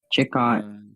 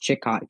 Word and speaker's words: Chicot: This is for, I believe it's pronounced Chicot County in Arkansas, and for